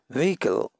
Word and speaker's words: vehicle: CI al next is vehicle and hero H is the silent call vehicle hand the next